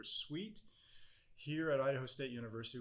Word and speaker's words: CEWT: education and workforce journey we pronounced that CWT or suite here at Idaho State